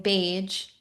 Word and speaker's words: Bage: Your last name, Paige, rhymes with Paige, so it's likeity.